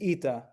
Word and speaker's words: eta: And the next one is eta. It's another E sound, but it's a little bit longer. So it's an as in obey.